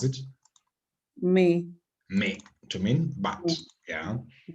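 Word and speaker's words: mais: How do we normally pronounce it? Me.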